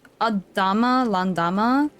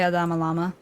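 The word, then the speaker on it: Adamm Landamm: always have to remind myself of the pronunciation of this place, because it's Adama Landama, but for some reason my brain wants to say Adama Lama, and I don't know why.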